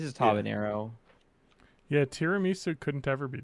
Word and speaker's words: habanero: You don't put an enye in that. It's just habanero.